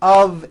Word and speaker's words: of: what I call the of exception many foreign speakers make this mistake even though the word of is spelled with an F we pronounce the of with a voiced v I know this sounds